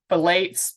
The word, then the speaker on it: phthalates: The next word I have a hard time pronouncing. It's phthalates, P-H-T-H-A-L-A-T-E-S.